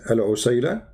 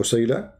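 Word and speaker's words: عسيلة: So in the top there are like there's many pronunciation for the word, but the word in the hadith is al-usayla or usayla.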